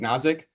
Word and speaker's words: Osic: me Mr osic uh that's how you say it osic um but is